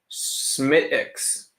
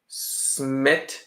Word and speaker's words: Smithwick's: Smithwick's is pronounced without the W or H. Smithwick's. Are you fucking with me or are you serious? Smittix.